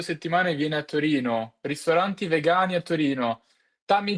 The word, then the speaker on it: Torino: Vado a Torino. Torino in Italian is with O. It's not Turino. It's like in English, Turin. But in Italian it's Torino with the O.